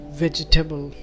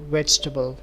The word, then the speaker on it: vegetable: the world is vegetable, which is quite often pronounced as vegetable. The A is actually silent and the word sounds more like vegetable.